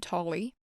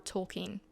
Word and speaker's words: Tolkien: The friendship between Jack and Tolly, or C.S. Lewis and J.R.R. Tolkien, which I recently learned is the correct pronunciation, I've been calling him Tolkien my whole life, is one of the most significant in history.